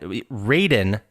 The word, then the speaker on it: Raiden: someone like yeah and then you have ride raiden and the reason we call him raiden instead of ryden is because in the first